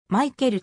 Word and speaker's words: Michael: のに入るはオランダ語でも正確にはマイケルと発音される 1990 から 91 シーズン